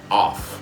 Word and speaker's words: of: So if we have two Fs, it sounds like an F. Off, just like the switch, on, off. But if we only have one F, it sounds like a V.